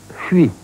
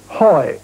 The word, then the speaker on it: Huy: on the Meuse called Huy, H-U-Y. It's a very difficult word to pronounce in English.